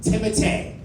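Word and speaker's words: Timothée: Like, the other day I was talking to someone, and I said, Timothy Chalamet. And a white woman came out of a trapdoor. She said, excuse me, it's pronounced Timotei.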